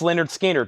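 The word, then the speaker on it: Lynyrd Skynyrd: stuff big brother in the holding company $64.99 pronounced Leonard skinnard $64.99 that was Mofi that's analog Productions fog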